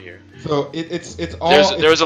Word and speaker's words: ye: like a why that it's not ye olde pub it's the old pub if you pronounce it it's a letter that represents the th combination i trust me i know a number of linguist it represents the th it represents a th sound and that's where the